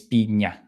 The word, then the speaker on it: piña: instead of pronouncing uh, the word would be P-I-N-A. So that would be pina if you pronounce. I mean, if you pronounce that like an n, but because it's an ñ, it's piña. So it's just different sound.